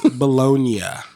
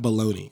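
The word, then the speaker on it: bologna: was the origin B it's bolognia not baloney it's bolognia oh boy that's a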